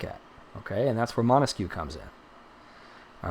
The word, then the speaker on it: Montesquieu: Okay, you ready? Montesquieu. Montesquieu. Oh, look at that. Even the autocorrect popped up and was like, that's how you spell it, because it thought I couldn't do it. I did it. Autocorrect. I don't need you. His name is not Mosquito.